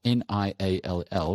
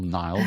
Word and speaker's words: Niall: And it's very important that because his name is spelled Niall, which in Ireland you call Niall, but in Scotland you call Neil.